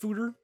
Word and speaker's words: Foeder: Apparently it's pronounced Foeder, from what the internet says.